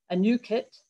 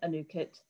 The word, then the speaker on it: Anuket: on this new initiative a new kit i have to say it correctly it's a difficult word